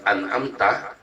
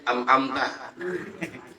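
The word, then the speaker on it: أنعمت: doang, ya, hamzahnya doang hilang umpamanya di kalimat an'amta, ya, an'amta, ya, ya, dibacanya umpamanya apa? Diganti dengan ain, an'amta. Yang benar yang mana? Ain apa kak? Ain kan? An'amta. Ada orang bacanya amta, mamanya, ya.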